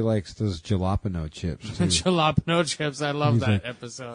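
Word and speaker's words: jalapeño: Jalapeno chips, I love that episode. He's like, it's pronounced jalapeno. And he's like, I don't care how it's pronounced.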